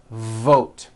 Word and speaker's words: vote: Let's look at the word vote. You've got to stretch out the V like this. Vote. Vote.